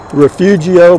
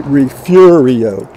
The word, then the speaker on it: Refugio: f yu-gi-oh and a lot of people will pronounce it refugio but it's actually refugio and here it is right here this is